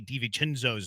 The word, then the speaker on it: DiVincenzo: My newest YouTube fans want me to say Dante DiVincenzo's name again.